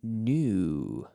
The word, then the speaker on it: knew: The pronunciation is the same.